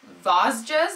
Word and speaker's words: Vosges: The first one, I'm not really sure how this is pronounced. Vosges, it's V-O-S-G-E-S.